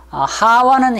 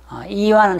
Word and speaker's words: 하와: 하와는 히브리식 발음이고, 이와는 헬라식이고, 이브는 영어식 표기라고 우리가 생각할 수가 있습니다. 그래서 하와, 이와, 이브, 이 세 가지가 동시에 발음이 될 수가 있습니다.